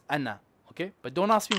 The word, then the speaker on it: أنا: However, this word, ana, it is universal. This is, no one will ever say ana in any copy of the Quran. It is ana.